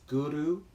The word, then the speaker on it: guru: get that correctly is the tongue kicks the roof of the mouth behind the front teeth so it's guru guru instead of guru which most people pronounce it like that that don't chant or don't do yoga so you know it's